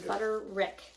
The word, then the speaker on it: Butterick: Oh, you used Butterick also. I also used a Butterick or wick. We know what we're talking about. It's Butterick.